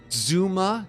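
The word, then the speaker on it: Dzuma: Let's go to the second person, and that is Zuma, D-Z-U-M-A, if you guys want to pronounce it correctly.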